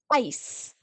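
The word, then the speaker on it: ys: So the example, we have ice, which in Afrikaans is called ice. So think of almost the same as you would pronounce ace, the card. We say ice.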